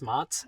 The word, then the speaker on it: Mats: My name is Mats, M-A-T-S, pronounced like the applesauce.